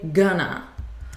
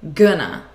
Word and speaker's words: gonna: So this is a reduction of the words going to, and we say gonna. But notice again the pronunciation. It's not with an O sound, it's with a U, g, gonna.